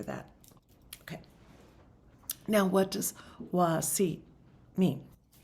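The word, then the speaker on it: Wasi': And this one is called Wasi. Now, Wasi is spelled W-A-S-I apostrophe. And in this dialect, that apostrophe means something. It means kind of it almost sounds like Wasia. It's like a sound.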